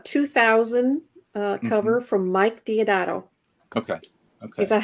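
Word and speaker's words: Deodato: is a a 2000 uh cover from Mike diodato okay okay is that how you pronounce his name yes yes yes that is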